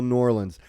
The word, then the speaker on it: New Orleans: these parts are you it's New Orleans it's one one word one syllable New Orleans um that's right yeah